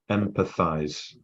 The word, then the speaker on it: Empatheyes: Empatheyes.